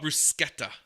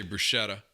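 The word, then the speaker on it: bruschetta: a br a Bretta I heard it was called brusketta someone told me it was actually the way you pronounce it but I always say brushetta you know Texans were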